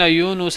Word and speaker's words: यूनुस: और बेशक यूनुस अल सलाम लोग यूनस कहते हैं। यूनस स्पेलिंग स्पेलिंग लिखते हैं। वाई ओ यू एन ए एस एन यू एस होना चाहिए। ये यूनुस है। नून पेश है।